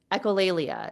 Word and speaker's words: echolalia: I put it in Google to get the pronunciation, but echolalia.